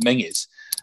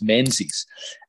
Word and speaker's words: Menzies: people in my generation though it should be pronounced mingus but a lot of people spell it because it looks like a zed as menses and mackenzie gets the same but for example